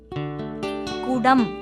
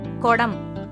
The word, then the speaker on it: குடம்: சொல்லுவது தவறு அடுத்து சரியான உச்சரிப்பாக குடம் அப்படின்னு சொல்லுவோம் இதிலேயே தவறாக எப்படி சொல்லிடுவோம் குடம் இந்த படம் பெட்டி இதுதான் சரியான